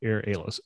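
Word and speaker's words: Airalo: this app so here halo the way you spell it is a-i-r-a-l-o so a-i-r-a-l-o air halos again available on ios and android app itself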